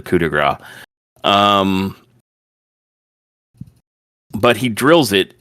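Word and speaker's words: coup de grâce: Um, and I know that's not how that's typically pronounced, but that's literally what he calls it, the coupe grass instead of the cudigra.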